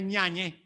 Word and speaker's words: Yáñez: Pero Rosete, Antoñanza, Zuazola, Cerveri, Tíscar, Ñañez, que era Yáñez, pero en la voz del pueblo, en la voz del pueblo pasó a ser Ñañez.